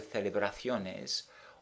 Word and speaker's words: celebraciones: The reason being that when a word ends in S or N, or a vowel, the stress is on the last syllable but one. So when celebración goes to celebraciones, automatically the stress is on the last syllable but one, that's to say the O, and therefore an accent is not required.